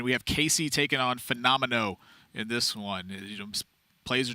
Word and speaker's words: Fenomeno: Right, and if I ever say it long form, I'm going to say Fenomeno. Like, that's just how my brain pronounces... Like, that is not the word phenomenal.